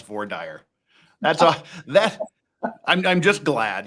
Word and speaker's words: voir dire: Well, I'm just glad to finally have someone on the show that knows how to properly pronounce Vordire.